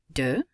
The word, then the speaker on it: deux: Deux, the X is not pronounced.